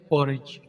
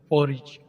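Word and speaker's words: porridge: English में कहते हैं पॉरिज यहां पर डी साइलें होगा पॉरिज समोसे समोसे की इंग्लिश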